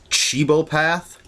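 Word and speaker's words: cibopath: what is called a cibo path that's the pronunciation I'm going with I tried to look this up and I found a whole bunch of different pronunciations looked at other reviews of the comic people were saying in different ways so I'm just going with cibo path what that is is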